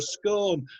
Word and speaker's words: scone: It spices up a curry, and it's vital for a scone, and that's the real way to pronounce it, for those of you who like a moan.